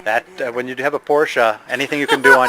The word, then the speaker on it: Porsche: That's a beautiful Porsche. Is that like in the set like 73? You pronounced it correctly too.